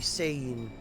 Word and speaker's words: Sein: It seems that the names are meant to be Japanese. I guess it would be Sein, rather than the German pronunciation, because I keep thinking this studio is German, which they are, so...